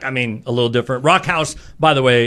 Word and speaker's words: Rakkhaus: design um and then Rock House the way it's pronounced obviously is like rock house which speaks more to